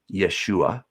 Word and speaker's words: Yeshua: in the first century his name would have been pronounced yeshua he came he is